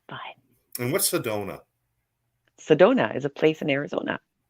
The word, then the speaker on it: Sedona: and what's the donut Sedona is a place in Arizona oh okay and it Rhymes Sedona I went to Sedona I had Mia Corona oh my gosh apparently